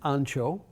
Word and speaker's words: ancho: The pronunciation of chilies is varied and humorous. This chili is an ancho.